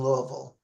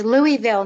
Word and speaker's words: Louisville: It's Louisville, not Louisville. Louisville. I guess I sounded like a total Californian. Louisville, Kentucky. We try to make it one syllable, Louisville. Like it's not Louisville.